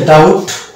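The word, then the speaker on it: doubt: English reader আছেন তারা খাতায় লিখে নেবেন এবং উচ্চারণ করবেন তাহলে শব্দগুলোর সঙ্গে একটা পরিচিতি চলে আসবে তো প্রথম শব্দটা হচ্ছে হচ্ছে ডাউট এখানে বিশাল ওই জন্য ডাউট দ্বিতীয় শব্দটা হচ্ছে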